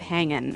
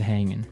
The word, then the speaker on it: hanging: Yeah, but usually you don't really pronounce the G in this context because it's very informal. So, how's it hanging? How's it hanging?